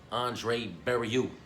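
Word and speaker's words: André Barriault: Joe, the boy Pfeiffer, versus Mark, Andre Barriou.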